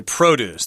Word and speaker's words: produce: over there in the produce section yep okay produce that's how you pronounce that but if you're talking about making